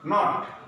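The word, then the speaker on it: not: Dear learners, নট মানে কি শেষে ভাওয়েল নেই, শেষে ই নেই, এই জন্য এটা উচ্চারণ হবে অ্যাজ ইউজুয়াল, সোজাসুজি নট।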